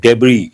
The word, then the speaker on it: debris: is the word we use debris the last letter s is silent and again we have